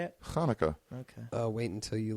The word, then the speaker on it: Hanukkah: chanukkah no it's not pronounced that way it's pronounced Hanukkah I have a I have a ton of